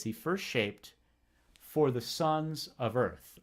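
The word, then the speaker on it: sceop: airstrike erstwhile he first shape is cognate whether word shaped the SC makes an SH sound so right you know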